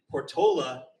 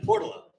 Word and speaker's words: Portola: We actually have two ways to pronounce the neighborhood. Portola and Portala.